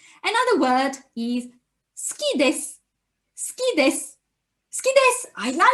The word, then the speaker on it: です: It can be also sushi ga suki desu, ski desu. In which case, the s sound is not su, but it is ski desu. So in a way, you drop the U when you pronounce it.